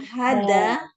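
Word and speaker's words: هذا: Man hada. Man hada. Ya. Ini cara bacanya dibiasakan haknya panjang.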